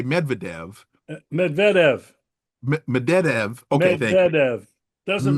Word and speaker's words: Medvedev: was made by, and help me with the pronunciation. Is it Medved? I always say Medvedev. Medvedev. Medvedev.